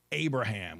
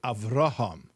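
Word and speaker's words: Avraham: We don't say Abraham. We say Araham.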